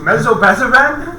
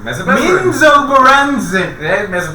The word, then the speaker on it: Menzoberranzan: You're saying it wrong too. Mesobezaran? Menzoberranzan. Menzoberranzan.